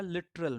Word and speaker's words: literal: ठीक ऐसा ही होता है लिटरल में, LITERAL, लिटरल में जो ए साउंड है second syllable, there are three syllables in both the words watery and literal, but we are not pronouncing the second syllable।